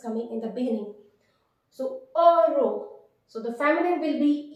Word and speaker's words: heureux: So the pronunciation of this adjective will be heureux. Generally, if any term in French is beginning with this vowel H is a semi vowel, H generally is considered as silent.